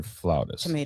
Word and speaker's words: flautist: Is it flutist or flautist? Tomato. Okay. Right. It depends on what part of the world you're in, but Americans say flutist.